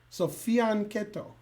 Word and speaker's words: fianchetto: like a Y, and it's not shadow, it's keto. So fianchetto. That's how you do it. Practice. But I just say fianchetto because I'm in America.